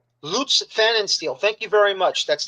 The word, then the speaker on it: Pfannenstiel: and if you can help me if I mispronounce his last name, I would appreciate it. Uh, Lutz Fest steel. Is that correct? Or did I Lootz Fannensteel? Loots Fannensteel.